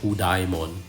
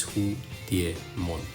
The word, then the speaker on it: Hudiemon: the Chinese word uh but it's definitely not hudon even though you know there's d i e there in the middle uh that's how you should pronounce it it's who Deon so um let's continue with his profile an